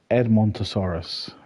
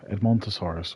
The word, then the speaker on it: Edmontosaurus: How do you pronounce them? It's Ed. Edmontosaurus. Edmontosaurus.